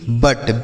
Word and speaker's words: but: BUT बट, बी से ब, यू का उच्चारण अ और टी से ट, यह हो गया आपका बट।